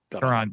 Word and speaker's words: Caron: Caron.